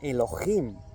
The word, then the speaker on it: Elohim: Si os vais una Biblia interlineal hebreoespañola, es la palabra 430 de la concordancia Strong hebrea que se pronuncia Elohim y que significa dioses, dioses verdaderos, Elohims.